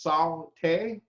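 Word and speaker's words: sauté: The word saute, pronounced saute, refers to a form of dry heat cooking.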